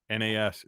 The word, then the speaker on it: Nas: Nobody's Loser says, no, you said it right. It's NAS.